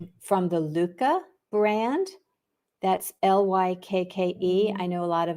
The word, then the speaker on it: Lykke: the Luca brand, that's Lykke. I know a lot of us call it Likey, but apparently that is not the correct pronunciation for that Danish word.